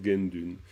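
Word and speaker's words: དགེ་འདུན: sinon, si on lit littéralement, ça fait Guédune en fait. Ça fait Guédune. Et c'est vrai que les Tibétains, ils prononcent Gendune.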